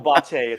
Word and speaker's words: Botte: Yeah, Botte. It's Italian Oh, pronunciation.